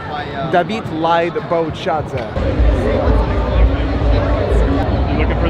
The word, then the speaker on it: David: David is how it's pronounced with the Russian accent. David Lied Bochadze.